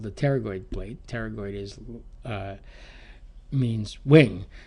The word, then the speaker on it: pterygoid: kind of holds everything together here this is pronounced pterygoid um the p is an aid for pronunciation pterygoid so it looks like this when you look